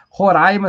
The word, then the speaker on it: Roraima: a Maria faanha diz Roraima se pronuncia como se tivesse acento agudo no ar é hoje vai ser